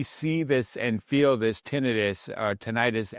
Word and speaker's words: tinnitus: this and feel this tinnitus, I believe it's the pronunciation I'll use from here on in, understanding that both work, is tinnitus.